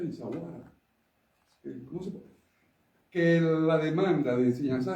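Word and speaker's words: Essaouira: Yo no voy a discutir contigo que Souira, ¿cómo se pronuncia? Insawara.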